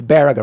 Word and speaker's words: Baraga: Did I pronounce that correctly, David? It's Baraga, right? Father Baraga? Yep. Baraga?